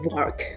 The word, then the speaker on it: VARK: let me introduce this cool framework it's called vark which rhymes with our canon arc so bark stands for